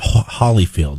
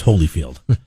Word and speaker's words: Holyfield: name right it's it's it's not hollyfield it's holyfield fields you just sound